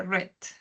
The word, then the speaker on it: read: El pasado del verbo read se escribe igual, pero se lee read.